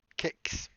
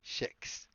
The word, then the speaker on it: kex: And also, it's pronounced kex, in case you want to learn more Swedish. Kex. There are some people who say kex. They are wrong. It's a hard K. It's a kex.